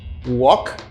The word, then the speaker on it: walk: first group of words walk walk the first one and this is work work listen carefully the pronunciation of this and this completely different you're to walk letter L is silent walk for example I